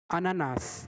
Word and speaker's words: ananas: Ananas. The first fruit is ananas. Here we are pronouncing the last letter S.